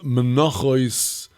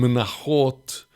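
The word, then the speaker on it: מנחות: The second tractate of Kodoshim deals with is entitled Menachos, in the Ivrit pronunciation Menachot, which is the wider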